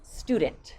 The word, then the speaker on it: student: that so for example a student is not the word it's student there's no e sound before it a I should say